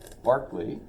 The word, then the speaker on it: Berkeley: Barkley but apparently it's in honor of George Barkley he's a philosopher um although and this is